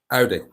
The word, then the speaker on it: Audi: I think, is it Audi? Is that how to pronounce it? Because like I'm saying, Aldi. Audi, yeah, Audi.